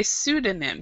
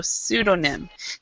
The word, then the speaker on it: pseudonym: very good just just it's actually we say pseudonym so so we don't really pronounce the E that much and we don't pron and the P we don't pronounce it all so pseudonym does anybody know what pseudonym means um we